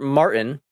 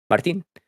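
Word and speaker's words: Martín: Today, I'm bringing you the dub of the day, Albert Martin. Oh, sorry, Martin. He's from Spain, so I should pronounce his last name right. Martin.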